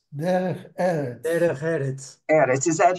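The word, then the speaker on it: דרך ארץ: You pronounce it Arts? No, Eretz. Derech Eretz.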